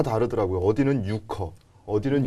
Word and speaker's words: 유커: 어디는 요커 어 이게 실제로 이제 발음이 중국인들은 어떻게 발음을 하는지 저희가 한번 준비를 했거든요 직접 한번 한번 같이 보시죠 요크 요크 요크 요쿠 그죠 우리 우리는 요커 유커 뭐 이렇게 부르는데 요크 뭐 뭐 크로 끝나는 거 같이 발음이 우리랑 조금